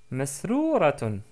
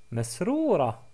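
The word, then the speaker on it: مسرورة: Ana masrouratun. Ana masrouratun. Bravo. On peut dire aussi Ana masroura. Ana masroura. Ce qui est plus correct.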